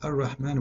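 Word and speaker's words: الرحمن: It is Ar-Rahman with alif, not without alif.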